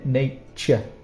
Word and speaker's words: nature: Remember the pronunciation here, nature. It's more of a ch sound.